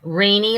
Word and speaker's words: Renee: Renee like beanie.